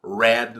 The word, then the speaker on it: read: last man Opa é só rindo no presente Red no passado mudou a pronúncia do verbo Rui e agora como é